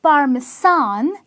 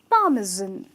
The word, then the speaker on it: parmesan: It's not parmesan, it's parmesan, okay? Parmesan with a Z in the pronunciation.